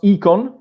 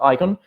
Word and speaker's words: IKON: some guidelines and criteria as you can see i pronounce econ because the written in this way comes from esperanto but the the root is a greek root and the pronunciation is econ not icon and also because comunicon you don't say common icon so that's why i pronounce pronounce like that so econ uh the